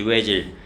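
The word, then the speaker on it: Özil: 외질. 근데 이거 오질이잖아. 오질. 근데 그 독일애들 보면은 여기 이제 점이 두 개 찍혀 있거든. 이걸 뭐라고 하냐면 움라우트라고 그래.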